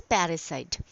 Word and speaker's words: parricide: Okay, what do we call parry, PARRICI, parricide. Okay, and the correct pronunciation is parricide.